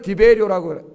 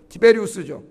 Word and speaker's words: 티베리우스: 하여튼 그런데 이 은화 앞에는 황제의 화상, 그 당시에 황제였던 티베리우스, 우리 성경에는 디베리오라고 읽어놨어요. 티베리우스죠.